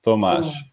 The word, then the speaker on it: Tomasz: It's just you just do homage, but with a T, so it's Tomaž.